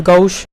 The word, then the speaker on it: gauche: In the original pronunciation it is gauche.